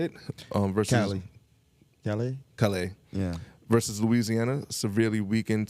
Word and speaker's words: Callais: Versus Callais.